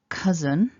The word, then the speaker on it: cousin: i already mentioned first first syllable cuz is one short a vowel but here we see